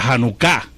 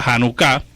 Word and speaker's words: Janucá: están celebrando ahora la janucá hoja nunca dice nosotros pero la verdad que el acento está en la última sílaba la janucá que se celebra en